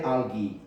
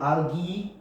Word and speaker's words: algae: pronounce this and uh you could also say algae okay I think algae is more is British and algae is America but both are fine and what is a